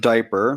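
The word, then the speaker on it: Dyper: out to diaper diaper it's pronounced diaper which honestly is kind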